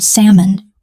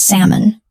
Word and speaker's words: salmon: The word is salmon. The L is silent. We say Sam uh. Repeat after me. Salmon.